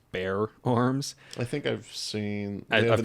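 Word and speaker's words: Bexar Arms: it through this company it's spelled bexar b-e-x-a-r um but it's pronounced bear arms i think i've seen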